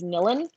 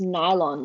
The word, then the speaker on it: Nilon: say my last name constantly gets pronounced as nilon it's nylon like the strings on a guitar it's an i not a y oh they spelled it